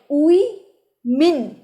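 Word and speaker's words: women: Next, ওম্যান মানে একজন মহিলা, কিন্তু মহিলারা তার উচ্চারণ হবে উই মিন। সোশ্যাল মিডিয়াতেও মিম আছে ওম্যান নামের। এই ওম্যান কথাটাকে মানে উইমিন, আমি যেটাকে বলবো উইমিন, উইমিন কথাটাকে বিভিন্ন মানুষ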